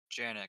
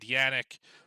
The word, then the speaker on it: Janik: Janik, pronounce the J. Janik. Okay, I said Janik. I said Yannick.